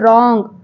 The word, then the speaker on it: wrong: be there so therefore W and r are the consonant o is O therefore W sound is a low sound and R sound is a high sound therefore W is silting here while pronouncing it it is coming as wrong and another example C